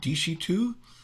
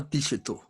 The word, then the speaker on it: Desheto: So you also mentioned, if I'm pronouncing it correctly, Desheto? Very, very close. There's a little on the front. It's a Desheto.